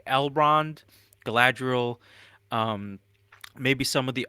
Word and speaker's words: Galadriel: I want to see Galadriel's growth. I want to see why Galadriel can fucking turn kind of evil I'm and sorry, you're like pronouncing it wrong. It's Galadriel.